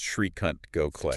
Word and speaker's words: Srikant Gokhale: and that's pronounced Srikant Gokhale, Decent Gokhale.